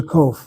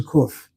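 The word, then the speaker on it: qof: And then the next letter she calls a CO. I know the letter is a cof. Write down the transcription. K UF cof cof. She writes Kof.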